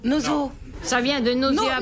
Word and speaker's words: nosocomial: Où attrape-t-on une maladie nosocomiale? C'est un rapport au nez. Noso. Nozo.